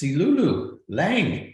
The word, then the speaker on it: Silulu Lang: It's Silulu Lang. It's easy. Yeah. It sounds the way it's spelled.